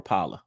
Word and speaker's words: Rapala: what what he got Rapala do you all pronounce that rapper or Rapala rapama okay Rapala all right and you said